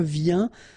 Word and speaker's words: viens: Je viens. Final S not pronounced, okay? And when you combine this IEN, you get this yin, yin.